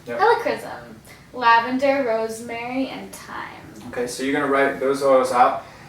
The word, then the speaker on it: Helichrysum: I can't pronounce this. Helichrysum? Helichrysum. Yep. Helichrysum.